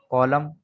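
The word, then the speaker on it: column: एन कब silent होगा, यहाँ देखें, आमतौर पर ये एम के बाद आ रहा है, ऑटम, कॉलम, डैम, और यहाँ गवर्नमेंट, यहाँ पर एन साइलेंट है, गवर्नमेंट।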